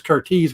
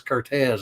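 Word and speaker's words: Curtiz: warner brothers michael cortez it looks like it's curtis but this cortez is the way it's pronounced but some of the pictures and i'm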